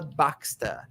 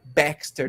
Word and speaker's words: Baxter: see guys pay attention the way she pronounced her name I am baxa not Baxter no yeah I am Baxter and there is a